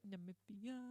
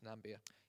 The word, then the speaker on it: Namibia: Namibia. Some people incorrectly pronounce this Nambia.